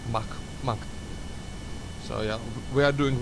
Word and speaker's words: Mach: I think it's, yeah, cause it's like, it's a K. It's Mach. So yeah, we are doing well over Mach 1 right now. So Mach 2 is not out of the question with our rate of acceleration.